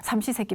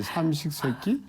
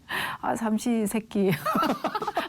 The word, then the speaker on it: 삼시세끼: 남성이 이제 집으로 들어와서 삼시세끼 밥 해내라고 그리고 딱 자리 차지하고 앉아 있으면 나가지도 안 하고 발음을 좀 잘해요. 3번의 식사지 삼식세끼? 삼시세끼. 삼식세끼가 아니라 삼시세끼. 죄송합니다.